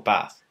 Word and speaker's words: Bath: Is it Bath or Bath? I don't care which one is right, but personally I say Bath. I'll admit that there's only one A, but that hasn't stopped other words. See half, calf, rather and farther.